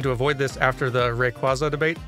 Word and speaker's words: Rayquaza: avoid this after the Rayquaza debate the way I say it is Rayquaza while the official pronunciation is more like Rayquaza yeah but and that's